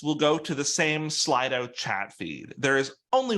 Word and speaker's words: Slido: I sometimes say Slido because that's what NVDA insists on saying, but it is pronounced Slido.